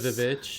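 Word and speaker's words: VVitch: And then The Witch The was Vich. Yeah, you deleted the two V's and added a W. It's the V's. I know it's the V's, but you don't pronounce it with V's.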